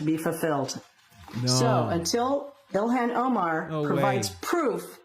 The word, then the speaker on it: Ilhan: It's Ilhan Omar. I think that's I heard that pronunciation. I think the Arabic pronunciation should be Ilhan. You have to pronounce the H.